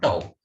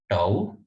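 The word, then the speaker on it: tau: represent by the symbol toao. So this type of symbol is to be treated or is called as toao. some book some professor they may pronounce it as to both the pronunciations are okay now this simply becomes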